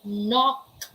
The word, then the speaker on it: knock: this rule listen carefully the letter k is always silent when it precedes the letter n in a word so it only means